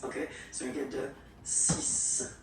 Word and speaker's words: six: And be careful here, because even if it's ending with this X, well, you will have to pronounce it like S. Okay, so you get the six pronunciation.